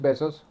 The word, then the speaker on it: Bezos: El 9 de mayo de 2019, Jeff Bezos suena como beso en plural. Además, aquí dice que se pronuncia Bezos.